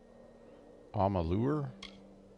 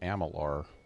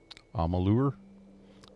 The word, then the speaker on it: Amalur: here among the clouds i'm a lure let's think i was pronouncing it amalar i'm a lure i will not remember